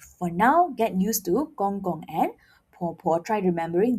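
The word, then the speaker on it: 公公: I repeat, gong gong. Do not say it as gong gong. Remember, the G becomes K. So, when you pronounce it, don't blow and you say it like this, gong gong.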